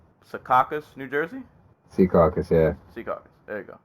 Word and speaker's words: Secaucus: Secaucus, yeah.